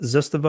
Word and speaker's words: Zastava: Scott saying Zastava, Zastava. That's how I pronounce it. Zastava. I think that's the proper way to pronounce it.